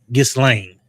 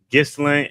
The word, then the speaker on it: Ghislaine: But I think you pronounce her name. Where's it at? I think it's Ghislaine. Ghislaine.